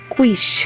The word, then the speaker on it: quiche: Okay, so it's a quiche, Huxley, quiche. Oh, okay, thanks for correcting my mispronunciation, Miss Dahlia.